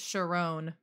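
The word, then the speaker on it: Charon: It's Sharon, apparently. It's not that. That's incorrect. Whatever it is.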